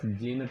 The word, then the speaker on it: Jeanette: Her name can be pronounced as Janet also. So I'll be using the pronunciation Janet.